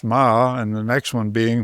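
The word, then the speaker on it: 马: But if you read those Chinese characters, the first one being a horse, pronounced Ma, and the next one being for a soldier,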